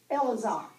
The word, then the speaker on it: Eleazar: mighties now this Eleazar in the uh Hebrew it's just pronounced elazar elazar but in our English version It's Eleazar Hallelujah he was the